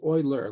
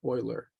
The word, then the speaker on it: Euler: from the 18th century whose name is pronounced Euler like oil Euler but that's how it's spelled so suppose we have